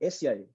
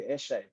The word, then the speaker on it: Eshe: Yeah, it's actually pronounced Esye, but oh, like through time people have been have changed it to Eshe.